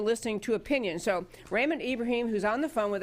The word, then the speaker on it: Ibrahim: You actually are pronouncing it correct, Ibrahim.